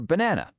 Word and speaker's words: banana: Or banana. We emphasize that middle syllable, so the first A gets lazy.